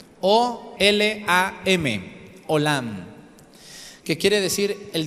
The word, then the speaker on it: olam: 10 número se olam olam olam como Hola sin h y al final a M olam o L a m olam que quiere decir